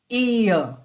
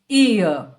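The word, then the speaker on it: ihr: Ear. Again here, the R at the end is silent and also the H is not very distinct. It's ear.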